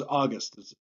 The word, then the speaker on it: August: My name is August. The first syllable is accented, and then the second syllable, ust, is not.